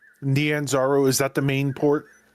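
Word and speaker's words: Nyanzaru: Naranzo Nanzaro.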